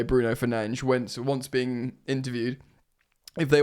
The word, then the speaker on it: Fernandes: Ben Jacobs writes this: Manchester United star Bruno Fernandes, because it is pronounced apparently Fernandes, has been warned by Saudi Pro League admirers Al Hilal.